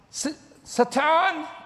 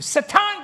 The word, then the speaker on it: Satan: Now, I said, Satan, and that's how you say it in Hebrew, Satan, get behind me in the name of Yeshua.